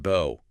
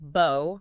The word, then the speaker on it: bow: It could be pronounced bo rhyming with go. That's the verb meaning to bend at the waist like showing respect. And it can be pronounced bow rhyming with now or cow.